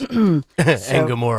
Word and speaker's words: Engoron: Engoron.